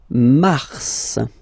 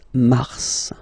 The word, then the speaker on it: mars: Then mars, okay? So in a way, it's an exception because normally final S is not pronounced in French, okay?